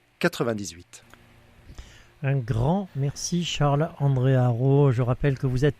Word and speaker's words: Harreau: Alors, je suis sur LinkedIn, donc Charles-André Haro. Haro, ça s'écrit H-A-2-R-E-A-U.